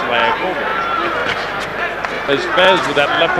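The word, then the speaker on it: Liakhovich: on his victory over Likovich. Who likes that name, actually pronounced Liakovic.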